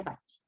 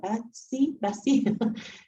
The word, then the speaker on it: Bassi: Ya, aunque sí, como dijo al principio, sí es italiano, pero se pronuncia Bassi. Claro, por lo que es con S, pues si fuera con C, probablemente sería Bassi.